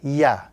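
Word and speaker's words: ي: underneath this particular letter the letter yeah the English equivalent is the letter Y in the English language look at the pronunciation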